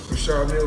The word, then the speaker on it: Richard Mille: I like to call this Well, they people pronounce it different ways. Richard Mille is what my jeweler told me, so Exactly how you say it, yeah. Richard Mille.